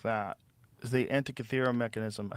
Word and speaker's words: Antikythera: Is the Antikythera mechanism?